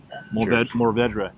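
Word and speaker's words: Mourvèdre: Oh, but we very nice use the French pronunciation which was is mored and man it is it's really really good.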